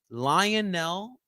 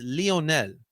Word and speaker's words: Lionel: It's Lionel. Lionel. All right. Not Lion. It's the amount of reporters I've heard say Lionel Messi when it's Lionel Messi.